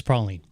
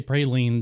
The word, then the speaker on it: praline: there and taken care of right away it's Prine okay um if you're in New Orleans and you say praline nothing screams tourist more than saying Prine instead